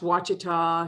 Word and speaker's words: Ouachita: Floricane fruiting, Thornless, pronounced Wacita, if you hadn't had that lesson before, it is our standard in North Carolina and probably the world as well.